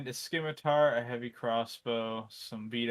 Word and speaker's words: scimitar: do me a favor pronounce Scimitar without the sea it's pronounced scimitar I have heard Muslim